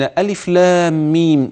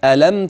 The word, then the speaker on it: الم: وإلا لو كان الأمر ما يكتب ينطق، كيف تفرق بين ألف لام ميم ذلك الكتاب لا ريب فيه، وبين ألم تر كيف فعل ربك بأصحاب الفيل، وبين ألم نشرح لك صدرك، لولا أنها مضبوطة أمامك، يعني متشكلة وتعرف هنا تمد وهنا ما تمدش. نفس الحروف هي هي، لكن النطق هنا مختلف والنطق هنا مختلف.